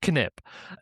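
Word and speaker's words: Knip: How we remove 28,000 lines of code one nip at a time or sorry sorry one kip at a time because it's pronounced kip.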